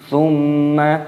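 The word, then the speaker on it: ثم: Thumma, mim tasdid hukumnya dibaca gunnah, cara membacanya yaitu didengungkan. Thumma, tapi jangan dipanjangkan, itu berbeda. Kalla, lamnya tasdid, lam alifnya dibaca panjang.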